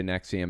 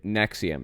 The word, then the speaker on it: NXIVM: don't really want to get too deep into Nexium because it's it it is actually very very